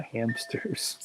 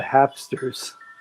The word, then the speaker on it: Hapsters: channel called the hapsters hopefully i pronounce that right the hapsters i think i was pronouncing it wrong i said the hamsters it's called the hapsters anyway she goes what's